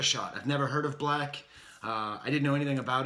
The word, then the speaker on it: 6lack: dad would call it he pronounces it black the number six for B but I'm such a